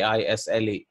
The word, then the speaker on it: isle: denial in English a is le the S is silent right and I'll this